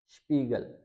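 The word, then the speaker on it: Spiegel: पी का rule है, एस के बाद अगर टी आ जाए या फिर पी आ जाए, इन दोनों को हमने शीन से पढ़ना होता है एस को, और वही रूल यहाँ पे भी है कि अगर वर्ड के शुरू में हो तो जैसे स्पास, स्पील, स्पोर्ट, स्पीगल। अब स्पास कहते हैं फन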